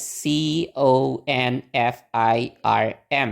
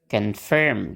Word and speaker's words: confirm: i r m gitu Nah itu tuh gimana sih cara bacanya Nah itu kita pakai pola yang tadi pakai pola Nana jadi nanti bacanya confirm gitu confirm ingat kan e yang suku kata yang ada Onya itu gak distes Nah berarti o-nya kita pakaiwawa itu apa kita ingat-ingat